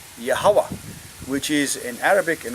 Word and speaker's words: Yahweh: word y he V should be yahwah not Yahweh that's the fourth that's